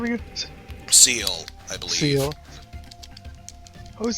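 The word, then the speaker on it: Ciel: Seal, I believe. Seal. I always think it's like Seal, Seal, or... Yeah, it's seal. It's French for sky.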